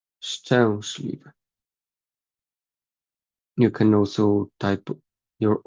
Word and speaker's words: szczęśliwy: So we have like w, szliwy, szczęśliwy, szczęśliwy.